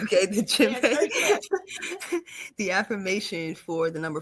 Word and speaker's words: djembe: Okay, the djembe.